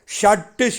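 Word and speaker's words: shut: சரி, 16 பாருங்கள், ஷட்டு ஷட்டு ஷட்டு ஷட்டு. வடமொழி எழுத்து ஷா ஷா. நாக்க உள்புறமாக மடித்து அதை உச்சரிக்க வேண்டும்.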